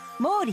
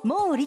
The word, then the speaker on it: 毛利: 名づけられました毛利と改定昔は森と読みましたん ana goo